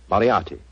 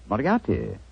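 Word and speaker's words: Moriarty: it or mispronounce it I'm afraid I'll have to begin calling it the way it looks m o r i a r t y mariati mariati I shall remember that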